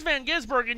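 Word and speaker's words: van Gisbergen: Here's now here's Van Gizburg.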